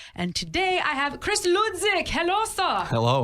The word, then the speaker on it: Hludzik: ago, and I said, is it Hludzik? That H is silent, right?